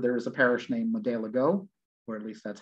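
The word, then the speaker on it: Modeligo: is a parish named Madeligo, or at least that's how it's spelled, M-O-D-E-L-L-I-G-O. And I believe the I-G-O is sometimes pronounced like the ga, Madeliga.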